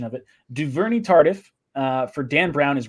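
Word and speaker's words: Duvernay-Tardif: so i saw someone gave me the the pronunciation of it duverny tardif uh for dan brown his robbery joe d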